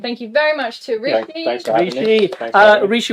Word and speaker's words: Ricci: And then if you're interested in some of the personal stuff I do on YouTube, then that is just Rishi, RICCI, and then that's just Rishi Talks.